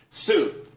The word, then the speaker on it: Tsu: everyone can be happy soon CSU it's pronounced soo though that's a that's